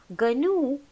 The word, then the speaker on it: GNU: GNU is pronounced as GNU.